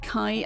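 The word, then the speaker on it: חי: Chai is pronounced more like kai. Ah, okay. It comes from the Hebrew word for life or living.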